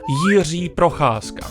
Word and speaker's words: Jiří Procházka: Jiří Procházka. That's how you pronounce his name.